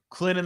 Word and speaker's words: Clinton: Clinton the T is silent.